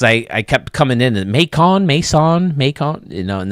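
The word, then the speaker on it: Macon: I kept coming in makon Mason makon you know and then they finally said it rhymes with bacon so I got it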